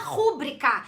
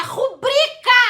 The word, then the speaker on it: rubrica: Pois é, aquela assinatura não se chama rúbrica, é rubrica! Não tem acento, tá? Não tem acento com a sílaba tônica no bri.